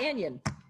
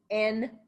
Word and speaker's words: anion: And it's not anion, it's anion. It's 2 words.